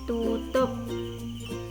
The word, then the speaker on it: tutup: Jadi untuk vokal ini ucapan U itu menyerupai vokal O yang biasa dibaca miring bagian vokal yang akhir.